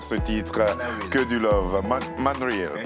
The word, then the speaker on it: Manareal: Man Riel, pardon. Man Riel, voilà, il faut le prononcer ainsi.